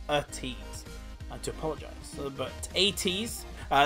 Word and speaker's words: ATEEZ: I know you guys have been shouting at me saying you're pronouncing it wrong, Tom. It's ATEEZ, not ATEEZ.